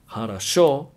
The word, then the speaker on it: хорошо: For example, in the word хорошо, it is written with three O's, but only the last O is pronounced as an O, since it is the only O that has a stress on it. So it's written хорошо, but pronounced хорошо.